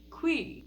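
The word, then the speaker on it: khui: planet is through a symbiotic parasite called the qui. This is how it's spelled. And yes, they did confirm it is pronounced qui.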